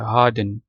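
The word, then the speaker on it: harden: अच्छा, ये इसमें भी आर साइलेंट है, हार्डन। जब आप इसको ब्रिटिश एक्सेंट में पढ़ते हैं ना, हार्डन, ठीक है।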